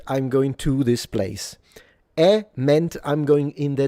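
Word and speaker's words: へ: You usually can choose between ni and e which is spelled which uses the hiragana that would be h e but they actually read it without the aspiration.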